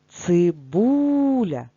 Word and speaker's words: цибуля: цибуля визначаємо наголос цибуля чи падає наголос на перший склад ні тож пропускаємо слово порція порція наголос на